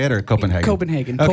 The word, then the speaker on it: Copenhagen: Copenhagen. Okay. Copenhagen would be the German way.